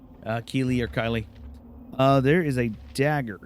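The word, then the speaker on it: Kylee: name his name is it's actually key uh like it's spelled uh KY l e e which is kind of hilarious and I kind of love that I kind of like that spelling of Kylie uh key or Kylie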